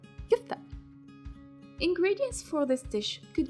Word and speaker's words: kefta: As usual, I will tell you how Tunisian people pronounce it. They say kefta.